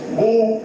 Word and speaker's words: Boule: Known as Boule, pronounced Boule. The group is here. See, Boule, B-O-U-L-E.